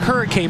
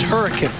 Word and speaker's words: Hurricane: It looks like Hurricane, but it's Hurricane.